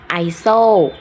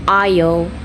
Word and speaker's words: aisle: iron island iso 3 คำนี้ไม่ได้อ่านแบบนี้นะ 3 คำนี้เวลาอ่านเป็นภาษาอังกฤษออกเสียงว่า iron island isle มาดูทีละคำกันนะคะ คำแรกอ่านว่า iron iron